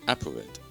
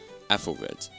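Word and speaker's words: Æthelred: To people unfamiliar with English or Old English, you're probably thinking that this is pronounced as Applered or Aplered, but the correct way to say this word is Athelred.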